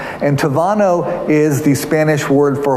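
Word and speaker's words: Tábano: of names called K Tavano and Tavano is spelled ta ba n Oh but when B in Spanish when you see a B it's pronounced as a V so it's K Tavano and Tavano is the Spanish word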